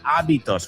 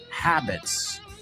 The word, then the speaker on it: habits: You say abitos. We we pronounce the habits.